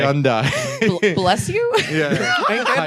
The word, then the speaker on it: Hyundai: They had a whole campaign about how it rhymes with Sunday, Pat. Yeah, I know. Hyundai.